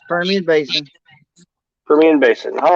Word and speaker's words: Permian Basin: Now tell me how to pronounce this. I'm doing good. You said it right. It's Permian Basin.